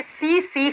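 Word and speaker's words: tsetse: एक मक्खी है और जिस मक्खी का नाम होता है सी फ्लाई। टी से लिखा जाता है लेकिन आप जब प्रोनाउंस करते हो तो टी साइलेंट हो जाता है।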